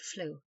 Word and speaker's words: fluke: Seaman by custom drop the K and pronounce the word flu.